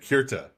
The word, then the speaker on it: Kirta: That's why we have these different pronunciations like Keret and Kirta.